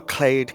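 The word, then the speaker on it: Klade: Yes, and this Miramar Clade Confessor?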